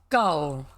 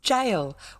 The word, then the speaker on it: gaol: It is not goal. Okay? So as a kid, learning certain words from reading them, a G like that was G. So it was goal, but it's not. It's jail.